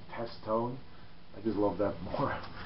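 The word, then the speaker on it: Testone: I think you pronounce it as Test One, but I always pronounce it as Test Tone.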